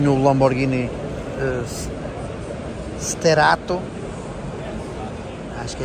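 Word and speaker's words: Sterrato: Temos aqui o meu Lamborghini Sterato, acho que é assim que se pronuncia. Sterato, exatamente.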